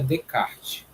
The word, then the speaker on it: Descartes: Eu acho que a escrita é Descartes, mas a pronúncia em si é Descartes. Por conta dele ser francês, esse S não sai na pronúncia.